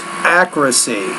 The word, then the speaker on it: accuracy: before I forget it's it's a word stress issue edge accuracy so that stresses on the first syllable there so depending on the